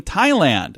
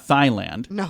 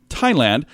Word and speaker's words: Thailand: in this world Dateline Thailand am I saying that right you don't pronounce the H right it's not fine land okay I didn't think so Tyler in Thailand police auctioned off a